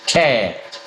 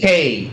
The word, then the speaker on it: Cade: Is it Shad or Cad? Cad. Yeah. So he was just talking about, he said how they hang out. Cade. It's actually Cade. Cade. Yeah, Cade.